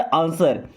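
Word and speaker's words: answer: आंसर। यहां पे जो डब्ल्यू होता है ना ये साइलेंट होता है। इसको आंसर नहीं पढ़ते। यानी कि इसको साइलेंट करना है केवल आंसर।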